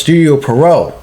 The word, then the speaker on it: Studio Pierrot: It get its anime adaptation worked on by Studio Pierrot, the same studio that worked on Cosmo Police Justy in 1986. It's pronounced Studio Pierrot.